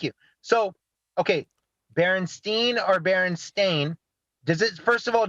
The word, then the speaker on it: Berenstain: clear it up um it is baron stain a i n instead of berenstein which is what people typically pronounce which would be well